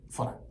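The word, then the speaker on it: ソラ: はい。S-O-R-A と書いて、ソラと呼びます。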